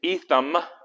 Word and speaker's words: Etham: then it says they went to etham with an m right like ethan but with m etham according to a